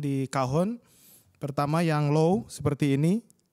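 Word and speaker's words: cajón: C-A-J-O-N, tapi bacanya kahon.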